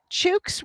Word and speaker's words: chook: Chooks rhyme with took, or chook rhyme with took, but the ch at the beginning.